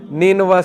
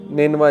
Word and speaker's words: نینوا: تو ادس نے کہا کہ میں نینوا سے ہوں۔ نینوا اس کا تلفظ ہے NINEVEH۔ نینوا جو ہے یہ عراق